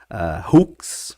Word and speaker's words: Hooks: Então, como eu disse, se fala Hooks, mas se escreve H, 2 Os, KS, que é uma abreviação ali de gancho, né?